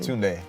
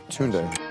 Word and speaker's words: Tunde: Tunde. Tunde.